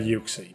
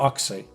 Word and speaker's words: Uxie: again run into that yuxi because do you say your oxy i i've heard people say oxy which is really just makes my skin crawl i i know i